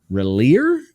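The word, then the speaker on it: Rillir: uh uh Roshan's son relier I think is how you would pronounce it and that's heartbreaking for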